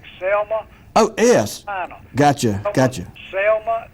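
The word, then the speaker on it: Zelma: was selma e bullock is his first name spelled with a z z-e-l-m-a selma just like selma oh yes gotcha gotcha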